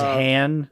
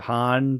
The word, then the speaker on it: Han: I don't like how he says Han instead of Han, but like, whatever.